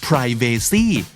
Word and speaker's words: privacy: zebra ถูกทั้งคู่นะครับไม่ว่าจะ zebra หรือ zebra ก็ม้าลายทั้งคู่ครับและคำสุดท้าย privacy ความเป็นส่วนตัวครับ privacy อเมริกันออกเสียงว่า privacy แต่ British ออกเสียงว่า privacy ถูกต้องทั้งคู่นะครับและถ้าติดตามฟังคำนี้ดีพอดแคสต์มาตั้งแต่เอพิโซดแรกมาถึงวันนี้คุณจะได้สะสมศัพท์ไปแล้วทั้งหมดรวม 3,700 กับอีก3คำและสำนวนครับและนั่นก็คือคำนี้ดีประจำวันนี้นะครับฝากติดตามฟังรายการของเราได้ทั้งทาง